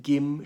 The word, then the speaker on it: Kim: And oh yeah, even better, Kim's surname, Gim should be pronounced, means gold.